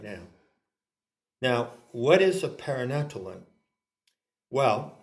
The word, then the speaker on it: paranatellon: Okay, so now we come to the great word which I invite Ginny to pronounce. Thanks. Paranatellon. Paranatellon.